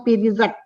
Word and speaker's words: Perizade: Nama saya ini, Perizade ini ada artinya atau enggak? Dia lihat, oh ada katanya gitu. Ini Perizat, bahasa Iraknya Perizat bacanya. Ya.